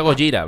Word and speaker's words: Gojira: este baterista tocando gojira que sí que se pronuncia gojira vale por primera vez y como sabéis no